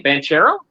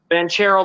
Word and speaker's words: Banchero: Banchero?